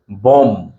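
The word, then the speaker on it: bomb: না থাকে তাহলে সেই বি এর উচ্চারণটা হবে না যেমন এটা হচ্ছে বোম বোম বি ও এম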